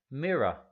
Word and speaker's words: mirror: Mirror. Nota no mirror. Este último R no se pronuncia mirror.